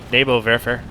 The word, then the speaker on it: Nebelwerfer: Oh, no, okay, nope, they hit the Nebelwerfer. Nebelwerfer. Gotta pronounce my W's correctly.